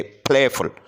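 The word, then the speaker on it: playful: है वो स्ट्रेस है इस तरीके से प्लेफुल इसमें फर्स्ट सिलेबल जो है वो ज्यादा स्ट्रेस है स्ट्रेस से मुराद यह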